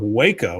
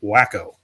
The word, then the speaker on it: Waco: Artie says the first time I heard of Waco was on One Day at a Time, and the joke was that Schneider pronounced it wacko.